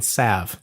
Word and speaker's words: salve: do this is healing salv the healing salv it's actually healing Sav yes we looked up how to say it the right way and it's healing Sav so cheeks you've already